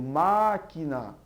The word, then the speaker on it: máquina: toda proparoxítona é acentuada eu digo máquina apenas antepenúltima sílaba é a tônica com que justifica o